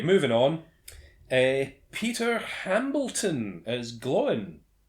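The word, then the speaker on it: Glóin: Peter Hambleton as Gloin. Which is definitely not pronounced to rhyme with groin.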